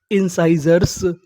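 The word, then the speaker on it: incisors: Meaning क्या बनी आई एन इन सी आई इसे पढ़ना है शाई इन शाई एस ओ आर इसे पढ़ेंगे जर याद रखिएगा इसे इसे जर नहीं पढ़ेंगे।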